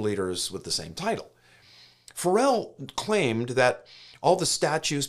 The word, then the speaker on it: Farel: Switzerland was William Fel some pronounce it farel we're going to go with a more traditional Fel Fel began as an